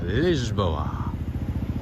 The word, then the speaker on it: Lisboa: Here we are in Lisbon, Lisboa, as the locals say.